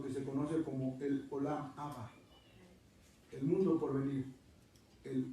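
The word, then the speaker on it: Olam Haba: Y bueno, para darle la pronunciación adecuada, Abba. Es acento en la última A. Olam Abba.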